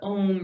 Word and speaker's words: om: our own sound remembering that om rhymes with home rhymes with Shalom and the vibration is